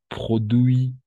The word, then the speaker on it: produits: Des produits, hasta la I solo. D'accord? La T y la S no se pronuncian. Des produits chers, la S no se pronuncia.